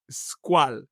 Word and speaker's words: Squale: It pains me to hear an Italian say it's a French word and he pronounces it as French. So, it is unfortunately squal.